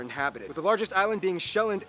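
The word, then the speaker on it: Sjælland: and 74 are inhabited the largest island being shelland not zealand which is not to be confused with dutch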